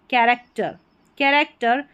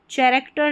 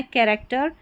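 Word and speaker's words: character: यहाँ पर है क, CH को क पढ़ेंगे.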